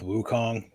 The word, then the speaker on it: Wukong: pronounce that sun and Wukong is spelled the way it sounds so but we we